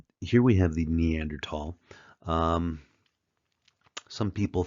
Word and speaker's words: Neanderthal: here we have the neander tall um some people say Neanderthal they they pronounce that th the H is silent in German so we don't say Thal we say neander tall and I believe the